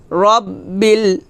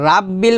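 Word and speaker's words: رَبِّ: আমার সাথে বলেন আলহামদুলিল্লাহি রব্বিল রব্বিল রব্বিল এখানে রাব্বিল বলা যাবে না বলতে হবে রব্বিল আলহামদুলিল্লাহি রাব্বিল আলামিন আলামিন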